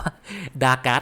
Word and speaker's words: Dagath: อ่าน ไม่ ผิด นะ แต่ ลุง จะ ขอ ออก เสียง ว่า ดาการ์ด แล้ว กัน ง่าย ๆ เพราะ ว่า ออก เสียง เป็น คน ไทย มัน ง่าย กว่า ไง มัน พูด ตลอด